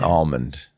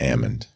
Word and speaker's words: almond: there's some inconsistencies happening an almond not Ammond but salmon yeah you're right yeah I don't like silent letters thank you Stacy on